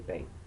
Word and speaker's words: pain: will pronounce that le pain, as if it were spelled P-A-I-N-G.